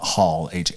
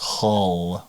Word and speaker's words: Hull: No, it's Hull, like the hull of a ship.